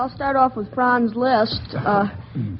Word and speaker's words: Liszt: Well, I'll start off with Franz Liszt. Say, I'm going to the grocer to see how he's doing in preparing my grocery list. List? Of course, that's spelled L-I-S-T, and the composer is L-I-S-Z-T.